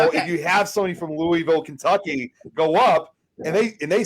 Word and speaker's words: Louisville: as the Kentucky one, it's actually not pronounced that same. They actually prefer it as Louisville. So if you have somebody from Louisville, Kentucky, go up and